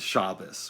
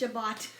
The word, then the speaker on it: Shabbat: And the dude is just shocked that he still keeps Shabbos, which is not how every Jewish person pronounces it. But it's Shabbat. I've mainly heard Shabbat.